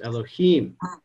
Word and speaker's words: Elohim: Know that the sphere of Bina is written Yud Hey Vav Hey and is pronounced Elohim.